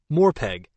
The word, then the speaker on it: MMORPG: multiplayer online role-playing game most people pronounce This Acronym more peg in more pegs players